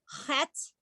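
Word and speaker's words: חית: So think of this as looking like a chuppah, so that you can remember that the letter sounds like a ch. The name of the letter is chet, and it's the letter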